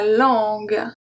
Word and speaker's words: langue: So why do we have a U? It's simply because if there is no U, the G will turn into a soft G. So here it's a hard G. So we have langue, longue, guitare. So if we didn't have the U after the G, it would turn it into a soft G, which will be lange, it's a diaper, longe,